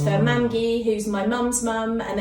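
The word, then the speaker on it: mamgu: the Welsh word for Grandma so it's for mangy who's my mum's mum and then Grandma who's my dad's mum who and I'm very very close to both of them so yeah it's pronounced mangy yeah grandmother yeah so who would you say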